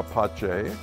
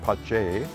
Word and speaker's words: Pace: the bella de la pache vineyards and winery and the p-a-c-e is uh pronounced pache because it's valadella pache it's italian it's you know we're